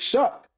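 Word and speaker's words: Shough: I'm like, oh wow, it's Shuck. That's how you pronounce it.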